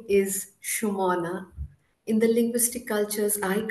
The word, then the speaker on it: Sumana: of my name so people from northern and western India for instance I'm in Northern India I'm in harana at this moment they often call me Suman dropping the vowel at the end Suman is flower so